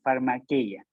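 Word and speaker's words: φαρμακεία: de la palabra farmaque farmaqueya por esta vez voy a pronunciar el griego farmaqueya de allí viene la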